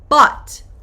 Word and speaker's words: bought: Here, buy, bought, bought. Think of like a robot, bought. This part, okay? Robot, bought.